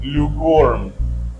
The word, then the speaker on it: lukewarm: as it is but if I use it attributively then the main stress will shift to First syel for example I want some lukewarm water lukewarm water the m just shifts to a syllable another example